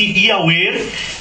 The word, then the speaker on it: Yahweh: O seu nome não é Pai, o seu nome é Yahweh, Y-H-W-H, pronuncia-se Yahweh, que quando Jesus manifestou, ele recebeu o nome do Pai.